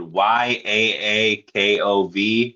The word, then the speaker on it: Yakov: I say it I say it right, but but I always put a a at the end of it for some reason. I say Yakov and it's just Yakov.